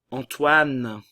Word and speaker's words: Antoine: Antoine, le A nasal en et le O et le I, oua. Le E ne se prononce pas.